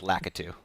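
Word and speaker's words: Lakitu: wanted to use a lukidu did i pronounce that right yeah let's go with lakka too eric said it more confidently than david but that's right but it found out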